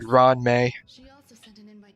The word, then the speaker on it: Ruan Mei: Okay, so I think we need to talk to Ruan May or excuse me, Ron May. That's that's how she's supposed to be pronounced, right? Ron May.